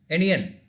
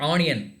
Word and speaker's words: onion: Onion, you should pronounce as onion, like that. Not onion. That O sound should sound like A.